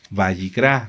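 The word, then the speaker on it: Vayikra: ¿Quién se acuerda cómo se dice Levítico en hebreo? ¿Cuál es el nombre correcto del libro? Bayicrá.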